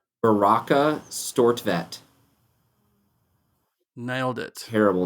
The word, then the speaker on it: Beracah Stortvedt: How do I pronounce your name? Beracah Stortvedt.